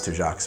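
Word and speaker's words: Tujague's: at two jocks and I'm super glad I looked up how to pronounce two jocks because I definitely would have pronounced that toosha guys to jocks apparently never would have read it that way probably invented at two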